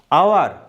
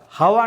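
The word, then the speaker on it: hour: an honest man অ্যান আওয়ার এক ঘন্টা আওয়ার হাওয়ার নয় আওয়ার এন আওয়ার এক ঘন্টা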